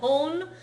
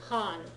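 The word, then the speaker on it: 半: half H H yes make sure it doesn't sound like hon and it doesn't sound like hun either it's Han think Han Solo okay nii Han nian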